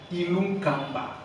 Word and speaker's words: Ilunkamba: Ilunkamba. Oh, comme c'est bien prononcé.